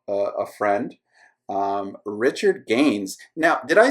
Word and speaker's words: Gaines: Um, Richard Gaines. Now, did I say your last name correctly? A lot of times I I don't say people's names quite like they should be said, but did I pronounce Gaines correctly, or is it is there an accent